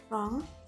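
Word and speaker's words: wrong: For example guitar card next W when W comes before are इट is silent अगर डब्ल्यू आर से पहले आता है तो नहीं बोला जाता है। For example right रॉन्ग that set.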